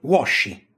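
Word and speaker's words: Włosi: polacco si legge u italiani poi si dice washi di nuovo però si scrive vosi in ungherese altresì Italia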